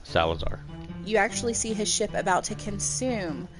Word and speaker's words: Salazar: Salazar.